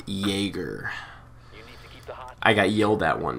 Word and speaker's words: Jaeger: By the way, guys, at first I started calling him Jagger, which is a really cool name, same. By the way. But it's actually pronounced Jaeger.